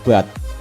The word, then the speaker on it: baht: Mata uang Thailand yaitu baht, disingkat THB, BATH ya, baht bacanya, THB singkatannya. Jenis kegiatan ekonomi penduduk dan hasilnya dari sektor pertanian ada hasil padi, jagung, dan ketela pohon.